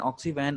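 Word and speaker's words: Oxy Van: Now the first is ऑक्सी वन. So this is pronounced as वन. Hindi में हम जो लिखते हैं वन मीन्स फॉरेस्ट, इसे हम ये कहेंगे, इट इज नॉट वैन, इट इज नॉट the automobile वैन.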